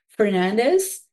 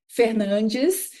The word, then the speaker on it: Fernandes: Like since I moved to this country, I say Fernandez, but it's not the right pronunciation. It's more like Fernis.